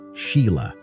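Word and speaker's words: Sighle: who became a film producer, and Sail often pronounced Sheila.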